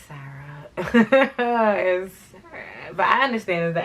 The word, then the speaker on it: Sarah: Oh, hey, she kept calling me Sada. I hate when Spanish people say my name like Sada. It's Sarah.